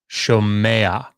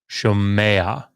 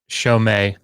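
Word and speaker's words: שומע: to say it, and it allows the guttural letter to be pronounced a little bit with an A vowel. So you get shomea, shomea. It's not shomei right?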